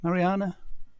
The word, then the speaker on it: Mariana: um I bought the Moog Mariana is it Mariana is that how you pronounce it yeah for the iPad cheap um